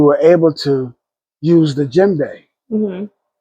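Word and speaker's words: djembe: So with hip hop, we were able to use the Jimbe.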